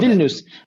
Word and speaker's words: Vilnius: How do you spell Vilnius, Viln, if I remember correctly, IUS, Vilnius.